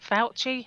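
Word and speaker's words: Fauci: a post recently that was attributed to whatever fouchy is that how you pronounce it yes it wasn't it was just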